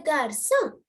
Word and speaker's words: garçon: But here le garçon. Le garçon, the sound is soft. Sound is soft enough.